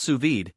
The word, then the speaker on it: sous vide: Well, sous vide, pronounced sous vide, is a cooking technique that uses precise temperature control in a circulating water bath.